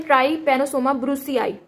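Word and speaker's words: Trypanosoma brucei: बारे में पढ़ते हैं तो सबसे पहले देखने की इसको प्रोनाउंस कैसे करते हैं तो इसको कहते हैं ट्राई पानो सोमो ब्रूस आई ट्री penosoma ब्रूस आई नेक्स्ट लिखा दिस पर्सिस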